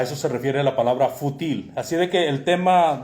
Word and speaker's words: fútil: La palabra fútil, con acento en la U, quiere decir de poca importancia, insignificante.